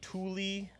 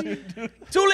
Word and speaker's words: Thule: We have a Thule Tapui Foothills tent. Now, what? Why is that significant? That sounds like something you say when you're angry at your child. You know, Thule Tapui.